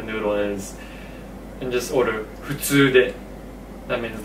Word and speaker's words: 普通: 普通. Okay. How do you pronounce the F without the F, right? Because it's not 普通. It's actually not, okay. Right, it's like you're just breathing out strong.